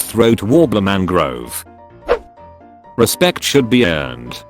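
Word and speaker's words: Raymond Luxury-Yacht: hours of the year you see it's spelled raymond luxury yacht but it's pronounced throat warbler mangrove respect should be earned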